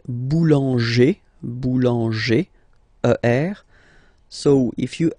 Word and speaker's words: boulanger: then feminine form boulanger boulanger same thing don't insist too much on the final boulanger okay all right and